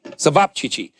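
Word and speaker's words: ćevapčići: Sabapchichi. Sabapchichi.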